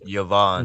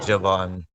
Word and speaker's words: Yavan: king of yavan yeah some people translate it Javon but it's yavan yeah Yovan yeah Yan